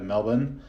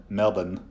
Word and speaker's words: Melbourne: 45 minutes outside of Melbourne uh notice any Australians listening I hope you I hope you appreciate that proper pronunciation of Melbourne not Melbourne um but yeah I